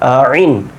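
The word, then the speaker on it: عين: দুইটা আর কি তখন বুঝতে পারবেন কিভাবে হচ্ছে আইন হা খেয়াল করেন আইন যখন বলছেন এই এই জায়গাতে গলার মধ্যখান হতে উচ্চারণটা হবে আইন আইন তারপরে কি হা আইন হা খেয়াল করেন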